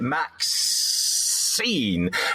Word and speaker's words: MaXXXine: You heard my confusion a moment ago where it's got three X's in the middle, so I would pronounce it MaXXXine.